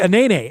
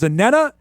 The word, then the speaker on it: Anene: We were told another thing for the last couple of years, that it was Anena. He says, no, it's Anene.